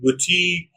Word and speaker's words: boutique: tangerine and Etc okay and also when we have I Plus gu U at the end or I plus Q U at the end in these two endings also I is pronounce e examples for i g